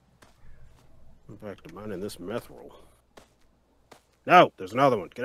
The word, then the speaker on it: mithril: Technically, the correct way is mithril.